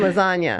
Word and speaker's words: lasagna: good meatballs and lasagna silent G and lasagna we're gonna have to